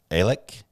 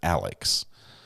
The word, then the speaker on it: Alex: uh on the podcast they were calling more like Alec it's it's almost like a in you know a different pronunciation it's his name is Alex okay here we go